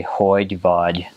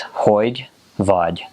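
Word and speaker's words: hogy vagy: you say hoy duvad so it kind of sounds you know it's hoig VOD so it's two words um the last letter of those two words are kind of complicated so um it kind of sounds like Hoy javaj but it's a little softer than that um so void vudge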